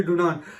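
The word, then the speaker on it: Dunant: कर पा रहा क्योंकि हेनरी को वो लोग आनरी और डुनांट के एंड पे टी साइलेंट होता है, तो आनरी डुनांट।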